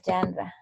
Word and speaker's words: genre: The musical genre. Let me put it right here. The pronunciation correct.